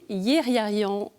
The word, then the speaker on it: Yéghiayan: France, je reçois aujourd'hui son évêque, Monseigneur Yeriarian. Bonjour Monseigneur. Bonjour Honorine. Est-ce que j'ai bien prononcé votre nom?